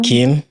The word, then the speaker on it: Kirn: is Kin. Yeah. But since people always misspelled or pronounce the word Kin, they call me.